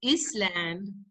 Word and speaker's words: island: The spelling says island, but please pronounce it island.